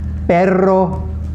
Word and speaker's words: perro: Double R's have to be really rolled.